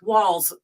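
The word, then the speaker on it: Walz: too but but but how do you say his name Waltz wals um like walls yeah they keep talking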